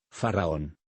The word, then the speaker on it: faraón: el man trán faraón se divide en tres sílabas así faraón el fa es de la escala musical el ra es como un sonido grave se debe vocalizar con un doble r conv viene a recordarnos